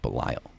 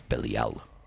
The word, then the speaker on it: Belial: It's not Belial. It's Belial.